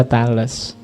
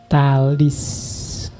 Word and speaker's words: Thales: bahas Inggris juga gitu kalau pakai dialek Inggris kadang memang dibaca Tales tapi pakai lidah Yunani sebenarnya bacanya talis Iya talis of milicius